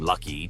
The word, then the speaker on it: Lucky: The origin of LG from lucky to global giant.